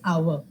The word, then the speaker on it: hour: okay so we don't say how it is our and it's not horor it's honor and it's